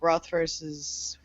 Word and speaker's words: Rothfuss: I am currently reading, and by reading I mean listening to the audiobook for Patrick Rothfuss's I think I'm saying his last name wrong.